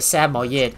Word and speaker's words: Samoyed: mispronounce it, but it's actually a Samoyed.